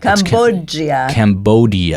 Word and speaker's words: Cambodia: Cambodia. It's a hard D.